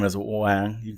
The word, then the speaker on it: Quang: were to say it more traditionally, like it would be pronounced as Bopa. All right. And yours? How do you say it? It's Wang.